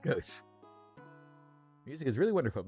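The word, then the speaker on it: Gauche: In case you ever see that name, now you know it's pronounced Goch.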